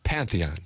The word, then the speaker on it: Pantheon: panthenon panon I use the word correctly but pronouncing it seems to give me a little bit of trouble Pantheon Pantheon it's all right you know what I